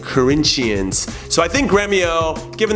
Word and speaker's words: Corinthians: I like to say it like the Brazilians say it, Corinthians.